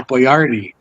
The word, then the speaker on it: Boyardee: His last name was Boyardee. And they wrote it out like that on the can so people could say it right.